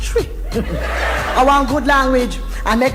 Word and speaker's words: Twi: African languages thank you it's spelled Twi but they pronounced tree around good language and